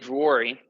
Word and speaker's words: Vuori: say you work at Drury. Yes. And what is the Finnish way of saying it, which is actually the right pronunciation? I know a Finnish lady. Yeah. But yeah, I do work at Vuori as a community manager in Encinitas.